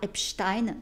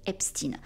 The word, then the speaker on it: Epstein: l'américaine, pour le coup, c'est pas Weinstein, tout comme c'est pas Epstein, c'est aux States, ils disent Weinstein et Epstein. Ça fait bizarre pour nous français, mais voilà, je le prononce à l'américaine pour le coup.